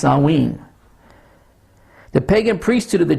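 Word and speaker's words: Samhain: Halloween is still known as the vigil of sanwin or s-a-m-h-i-n pronounced salween the Pagan priesthood of The Druids in Ireland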